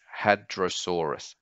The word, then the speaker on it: Hadrosaurus: There's four syllables, had, ro, saw, us. Putting it all together, it's Hadrosaurus, Hadrosaurus. Next up, we have Stegosaurus, quite a popular dinosaur with all its spikes.